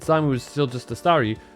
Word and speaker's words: Staryu: But back when I was a kid, and Simon was still just a Staryu, I could never pronounce its name right. Always ended up sounding like Sawiu.